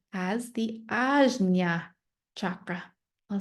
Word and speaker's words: Ajna: The third eye chakra, pronounced as the Ajna chakra.